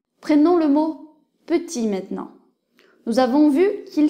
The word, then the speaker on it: petit: le E n'est pas prononcé prenons le mot petit maintenant nous avons vu qu'il s'écrit comme ça avec un T à la fin mais le T ne se prononce pas donc petit pour mettre féminin on ajoute un e à